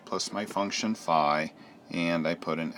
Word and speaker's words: phi: Okay, so I looked up the Greek letter here, and that Greek letter is written like that and pronounced phi.